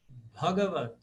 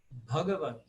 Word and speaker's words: Bhagavad: Então, se eu analisar o primeiro A de trás para frente, ele é leve, o segundo é leve, o terceiro é leve. Então, ele é proparoxítona. Bhagavad. Bhagavad.